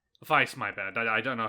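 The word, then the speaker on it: Feiss: They're all designed by David Fles. Oh, whoa, dude. That go hard. Don't you mean David Feice? Feist.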